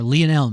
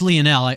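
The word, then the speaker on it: Lionel: I say Mr Messi is it liony mess or lonel Messi I I I think it's Leonel I went online and did a number of pronunciation searches I think I really probably think you can pronounce it either way and be right uh but of course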